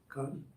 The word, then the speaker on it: Khan: your children it's honorific what's the pap way of pronouncing that con KH con how do you say KH it's K Ed so it's co yeah and then the the N isn't really pronounced so not like KH KH something like that but